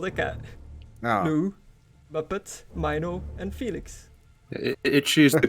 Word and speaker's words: Mino: Dingo wanted me to name a cat Minu, and I was like, how do you spell it? And he was like, M-I-N-O.